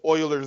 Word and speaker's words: Euler: Euler's number it looks like Euler's what is pronounced spoilers its Euler's number it's a constant the value is two